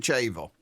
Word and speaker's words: Chache: Uh, I pronounce it chache. That's the way I pronounce the way it's always been pronounced.